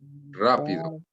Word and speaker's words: rápido: Rápido. rápido. Rápido. Rápido. Okay. All right. Try to roll your R, right?